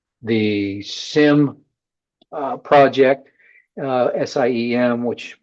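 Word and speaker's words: SIEM: The SIM uh project uh SIM which pronounced SIM or just stands for security information and event management.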